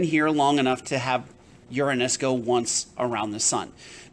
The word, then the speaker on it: Uranus: so it's not a fun place to live Uranus and yes that is how you pronounce it you do not say Uranus Uranus has a gravity that is 0.88 times